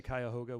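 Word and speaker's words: Cuyahoga: County you like how I learned how to say kyoga with one syllable by the way I've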